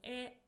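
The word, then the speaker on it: へ: Particle E. So this is a direction particle. It is pronounced as e but we write it as hiragana.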